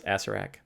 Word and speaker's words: Acererak: They pronounce it as Acererak.